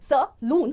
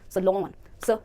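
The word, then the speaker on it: salon: देखो सलून को सलून नहीं बल्कि वो कह रहा है कि को आप पढ़ो स और लून को पढ़ो लॉन, सलॉन। अगर आप ऐसे क्लैप करते हो तो आपको वर्ड का जो रिदम है उसका सेंस भी थोड़ा पता चलेगा। सलॉन ना कि सलून, सलॉन।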